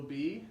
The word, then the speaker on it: Bea: is spelled B EE but her name is B EA but it sounds the same B and B so she's a little